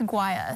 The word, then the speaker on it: Guaya: It's guaya.